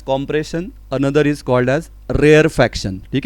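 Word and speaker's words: rarefaction: हाँ, बहुत से स्टूडेंट गलती से इसको फ्रैक्शन लिख देते हैं या फ्रैक्शन प्रोनाउंस करते हैं, तो ये वैसा नहीं है। वन is called edge compression, another is called as रेयरफैक्शन, ठीक है।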